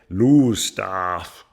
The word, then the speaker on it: Lowestoft: up onto the cliffs typically town names aren't pronounced how you'd read them and I thought we'd stopped in Lowestoft for a break but it turns out they call it lose staff by the time we'd